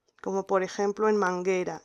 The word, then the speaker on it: manguera: como por ejemplo en manguera. En manguera esta letra U no la vamos a pronunciar porque después tenemos la letra E.